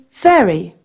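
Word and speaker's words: sehr: about there it means fairy so they're good very well the H is silent and to finish off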